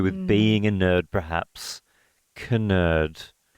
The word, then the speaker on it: Knerd: Knerd. Like, yeah. Is it because you pronounce something with like a silent Yeah, is K, your last you know what name I mean? Like, nerd, but it's actually Knerd.